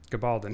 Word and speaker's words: Gabaldon: Sorry, I don't know how to pronounce that name. Gabaldon, thank you.